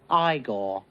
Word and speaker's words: Igor: You got Frankenstein's monster and Igor. No, it's pronounced Igor.